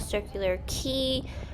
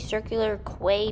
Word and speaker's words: Circular Quay: to the harbor um it's called circular key I kept say saying Circular Quay because I I thought that was how it was pronounced and